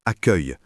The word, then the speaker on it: accueil: Par exemple, un élève connaît le mot accueil mais ne sait pas qu'il se prononce accueil.